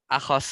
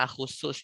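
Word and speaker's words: أخصّ: Akhos itu yang lebih tepat bacanya akhusus ya. Lebih bagus bacanya akhusu ya. Timbang akhos.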